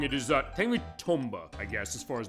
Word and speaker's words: Tomba: Tom as they go which I guess Japanese pronunciation is that is not tumba as some people on YouTube have said said like rgt 85 they keep saying that wrong it is uh technically Tomba I guess as far as the pronunciation but